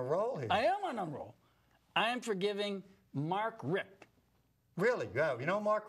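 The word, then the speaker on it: Richt: for yeah well is I don't think he pronounce his last name rich I think it's Rick but I could be wrong about that he's the coach of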